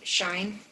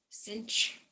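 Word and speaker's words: sinh: be to say it shine an american way and the way i've written down is to say it as cinch rhymes with pinch okay so cinch of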